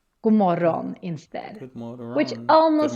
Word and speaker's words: god morgon: bit interesting with god morgon is that the pronunciation is a little bit weird. You might want to read it as god morgon, but we actually say god morgon instead, which almost sounds like an insult in English.